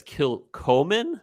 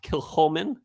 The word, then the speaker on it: Kilchoman: scenic which is uh you might see it and read it as kill Coleman but it's pronounced Kil Holman and uh it's it's